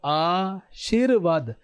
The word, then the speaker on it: आशीर्वाद: अब मैंने कैसे बोला? इसका उच्चारण सुनो। आशीर्वाद। इसमें र का उच्चारण कैसे हो रहा है? शी के बाद में हो रहा है।